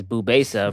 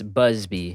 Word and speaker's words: Busbea: is james busby b-u-s-b-e-a micah pronounced it as bubasa for some reason jimmy bubesa it's busby that's his actor named you